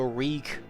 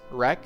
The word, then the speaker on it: wreak: Uh, I guess something that we we learned together today is how to pronounce the word wreak. So, wreak havoc, not wreck.